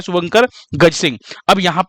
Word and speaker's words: Gajasimha: अब यहाँ पे एक चीज ध्यान रखिएगा, हिंदी में तो हम गज सिंह बोल रहे हैं, लेकिन इंग्लिश की अगर हम बात करें तो इसकी जो स्पेलिंग है वो क्या है? वो है GAJASIMHA, है ना। इंग्लिश में इसकी स्पेलिंग क्या है? गज सिम्हा। दरअसल जब इसको लॉन्च किया गया था तो इसी नाम से, लेकिन इसको गज सिंह बोला जा रहा है।